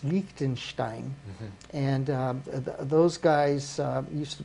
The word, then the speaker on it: Liechtenstein: Only got to say it right. It's Liechtenstein, and those guys used to be.